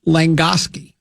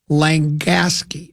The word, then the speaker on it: Langasque: So I immediately texted Romain Langoski. Can you see how Romain did today? Romain Langoski. Romain France. Langasque? Yeah, it's spelled Langasque. Romain Langasque, or Gosky.